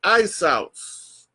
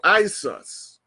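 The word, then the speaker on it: Ἰησοῦς: you're going to see the word I-E-S-O-U-S as the Greek word for Jesus. And that pronounced is Isos or Isus.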